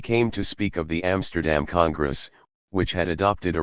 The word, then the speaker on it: Amsterdam: Instead of Amsterdam, it came out Amstadum.